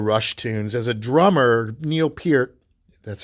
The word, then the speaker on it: Neil Peart: learned all the rush Tunes as a drummer Neil Peart that's how you're supposed to pronounce the name of the people say perk uh you know he's often idolized in the